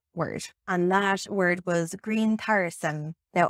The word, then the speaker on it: grientairisem: and that word was green tyrosine now i'm pronouncing that as if it's modern irish but it's very possible it was pronounced completely differently that is a much